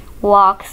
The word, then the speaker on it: walk: Walk slowly, इसमें L silent है.